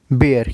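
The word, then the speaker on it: bear: भालू को हम इंग्लिश में बोलेंगे बेयर। क्या बोलेंगे? बियर। इसको हम बियर बोलते हैं ज्यादातर जो इंडियंस होते हैं।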